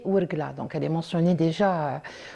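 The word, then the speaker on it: Ouargla: euh Wlen ou Warklen, en fait selon la prononciation, c'est wurgla.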